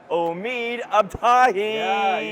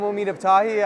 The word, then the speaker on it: Omid Abtahi: Pen Persing Omid Abahi. You nailed the pronunciation. Yeah. Ah, thank you so much. That was great. That was fun. Hi, I'm Omid Abahi.